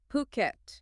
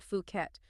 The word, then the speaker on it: Phuket: It's Phuket. Okay. Not Fuket, Phuket.